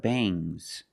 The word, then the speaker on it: bangs: When you have S after NG, it makes the nasal sound but it also makes a little G sound, but not a hard, strong G. These are bangs. Bangs. There's a little G, but it's not bangs. G's. It's softer. Bangs.